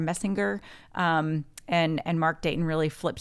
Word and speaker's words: Messinger: So Alida Rockefeller Messenger, I think is how you say her last, Messinger, and Mark Dayton really flipped some things in that state.